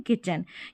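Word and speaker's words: kitchen: इसको किट और चन इस तरीके से नहीं पढ़ते हैं। इसको पढ़ते हैं किचन। क्योंकि टी यहां पर साइलेंट है और सी एच को हम च प्रोनाउंस कर रहे हैं।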